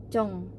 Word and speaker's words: Jung: berikutnya itu adalah Jong kalau versi romanization nya versi Inggrisnya itu memang ditulisnya Jung Tapi bacanya itu sebenarnya cong cong cong kayak eam huruf o